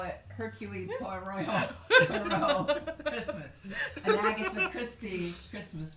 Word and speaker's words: Hercule Poirot: Hercule Poirot. I like that you have to make your voice funny. Yeah. Christmas. You're getting better. Anyway, or as I like to call it, Hercule Poirot Christmas.